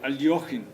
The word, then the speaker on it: Alekhine: And it's not Alekhine, it's is it? Alyokhin. Alyokhin. The thing is, I butcher pronunciations the whole time. So it's also Alekhine, mea culpa, depending on the country.